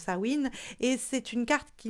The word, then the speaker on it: Samhain: Et nous avons la sorcière de Samhain, et bon, ça s'écrit sa main, mais ça se prononce Samhain, et c'est une carte qui nous aide à